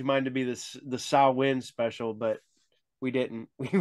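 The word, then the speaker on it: Samhain: to say that word my whole life thinking it was Sam Hayne yeah I was like Sammy who Sammy you mean Sam that guy over there but uh now they're like oh it's Sal how do you say it salwin that win is that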